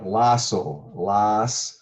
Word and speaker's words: Lossow: one more thing how do you successfully correctly pronounce your last name you bet good luck with that golden um uh lasso so it's just like the first last and